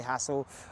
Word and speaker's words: Hassall: that fabulous actress imagin Hassel um some people say hael hassle hassle it depends how you say it but I say hassle um and and she